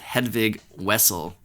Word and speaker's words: Hedvig Wessel: And it's Wessel, right? With a W. W. Even though it's spelled with a V. So for North Americans, it's Hedvig Wessel.